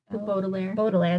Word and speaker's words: Baudelaire: Baudelaire? Baudelaire, there we go.